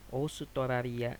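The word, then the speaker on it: オーストラリア: atau Australia itu disini hooknya dia dibacanya panjang dibacanya panjang oosutoraria Karena dia dari ause itu Australia kalau misalnya kita menyebutkan Australia itu pasti teh dengarnya seperti kita menyebutkan huruf o Hai Kalau pendapat pribadi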